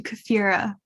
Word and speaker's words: Kefira: Hello, I'm Kefira, like Shakira, if that helps you to remember. It's Kefira Shakira.